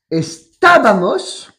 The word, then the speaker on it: estábamos: Estábamos. Estabais. Estabais. Estaban. Estaban, attention, il y a une accentuation sur le estábamos.